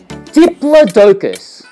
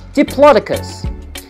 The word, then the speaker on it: diplodocus: there's a little bit of cotton it's a diplodocus sometimes pronounced diplodocus and it's got a long neck and a